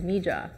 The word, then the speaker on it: Mija: welcome to Miha books there's actually two pronunciations for our bookstore one Spanish speakers will see it as Miha which is the colloquial word for my daughter in Spanish it has a much deeper meaning for us because it's actually the first two initials of our daughter's first and middle name m Jamila so another pronunciation is mija who are you